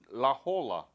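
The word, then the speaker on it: La Jolla: o l l a laola l yes Lola laola right actually in Spanish is H yeah laa yeah when did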